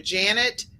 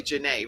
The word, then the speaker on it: Janae: Janet Bishop, for those of you that are the audio listeners, Dr. Janet Bishop but it's really Janae, right?